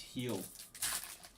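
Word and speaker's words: Gil: Luis Heel. Luis Heel? Yeah, I got yelled at so many times last year for pronouncing it wrong.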